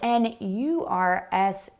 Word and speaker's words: nurse: It's spelled N-U-R-S-E, but we pronounce it nurse, the same as the ER sound on the end of the word father.